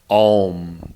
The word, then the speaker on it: Om: Even in yoga, they talk about Om. They say that O-M is how it's spelled, Om, Om. But it's really A-U, M.